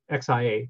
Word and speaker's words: Xia: But the Xia dynasty, which is spelled XIA, it's pronounced Xia dynasty, was 2200 to 1800 BC.